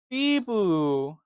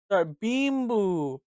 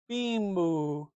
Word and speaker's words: Bimbo: It's called Biboo. Right. That's how you spell that. Bibboo. Bimboo. Bimboo. Like that.